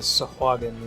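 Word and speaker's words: Sahagin: We're going to go with Sahagen is the correct pronunciation of the fish.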